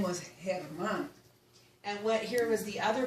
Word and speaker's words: Germán: But no, his name was Germán.